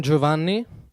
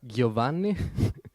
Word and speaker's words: Giovanni: Um, I'm Giovanni. It's pronounced Joe, okay? Because usually English people say is Giovanni, but okay.